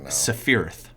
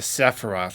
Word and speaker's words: Sephiroth: say his name uh i said uh safireth not the not the sephiroth oh no not the